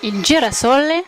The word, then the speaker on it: Il Girasole: Aujourd'hui, je suis en compagnie de Massimo sur la plage et il a un magnifique restaurant italien qui s'appelle Il Girasole. Ça va, j'ai bien prononcé?